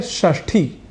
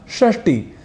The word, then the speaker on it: षष्ठी: कर लेते हैं समावेश एक शब्द है षष्ठी जिसे हिंदी में हम कहते हैं छठी संस्कृत के शब्द षष्ठी को हम कई बार षष्टि या षष्ठी ऐसा लिख और बोल